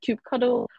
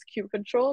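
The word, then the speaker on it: kubectl: okay there you go Ruben said some people pronounce control as cube cuddle or cube CTL um so I saw online saying that the correct term is Cube control but hey who's to say what's X what's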